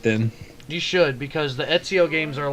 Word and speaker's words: Ezio: Ezio.